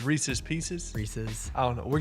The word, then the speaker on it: Reese's Pieces: is a beautifully iced Reese Pieces. How do you say that? Reese's Pieces. You say Reese's Pieces? Reese's Pieces. I said Reese Pieces. But there's an S at the end of Reese.